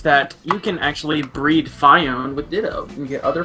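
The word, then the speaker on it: Phione: Guys, guys, it's pronounced uh Fiona.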